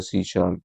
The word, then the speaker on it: C#: अच्छा भाई, इट is pronounced A C शार्प।